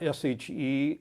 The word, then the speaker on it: sidhe: It's not SHE for those who are not may not know the term. It's SIDHE, but pronounced she.